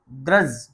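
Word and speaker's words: grudge: माने वही खाता जैसे जी आर यू डी जी ई ये ग्रज क्या पढ़ा जाएगा ये डी यहां साइलेंट रहेगा तो क्या पढ़ा जाएगा ग्रज ग्रज माने स्त्रिया डी बी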